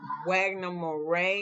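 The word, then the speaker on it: Wagner Moura: um Kirsten dun and I think Wagner Moray is how you say his name the budget for this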